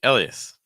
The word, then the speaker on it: Elias: And the next one would be Elias. Elias. 3 syllables.